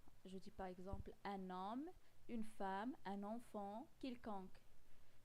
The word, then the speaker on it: homme: Un H qui ne se prononce pas. L'homme, vous voyez, homme, il commence par H qui est muet.